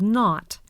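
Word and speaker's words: nought: decimal numbers let's listen in decimal fractions an O has two names if it comes before the decimal point it's called not after the point it's pronounced o numbers before the decimal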